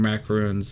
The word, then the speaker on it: macaroon: Modern macaroons No, it says it's a cookie. often call for sweetened condensed milk. Yeah. This thing, blah, blah, blah, blah, blah. Macaroon, last syllable tune.